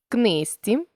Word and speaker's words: книжці: слів та звуковий боротьба книжці легко жати ми бачимо що у слові боротьба буква т а звук д у слові книжці буква ж а звук зі у слові легко буква